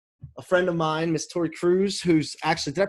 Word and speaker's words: Tori Kruse: And I'm excited to have a friend of mine, Miss Tori Kruse, who's actually, did I pronounce that right?